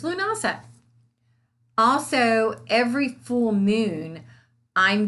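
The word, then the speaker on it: Lughnasadh: i'm from our from the south so it's lunasah also every full moon i'm going to do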